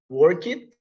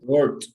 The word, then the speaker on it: worked: How do you pronounce work in the past or past participle? Work it? No? Worked. Worked. Worked, okay? After With the T, K right? sound, the T, with T, exactly.